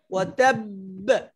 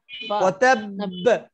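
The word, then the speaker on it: وَتَبَّ: আর এখানে বে হবে তাব ওয়াতাব ওয়াতাব ধরে রাখতেই হবে, ধরে রাখতেই হবে। যদি ধরে না রাখেন কাসাব ওয়াতাব, তাহলে এক বা উচ্চারণ উজ্জ হয়ে যাবে।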